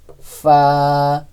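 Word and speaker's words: ف: প্রয়োজন হয় আইন ফা ফা উচ্চারণের ক্ষেত্রে নিচের ঠোটের পেট সামনের উপরে দুই দাতের আগা ফা এরকম ভাবে হবে ফা কফ কাফ লাম মিম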